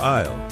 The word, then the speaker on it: aisle: The correct answer is the letter L. The L is silent.